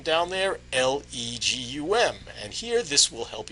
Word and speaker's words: Legum: Plus gum minus that second G. So the name is Legum.